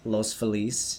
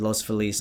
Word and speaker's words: Los Feliz: Leo was born in Los Angeles, Grew up mostly in Echo Park as well as Los Feliz. Ooh. Yeah, I said Los Feliz, not Los Feliz.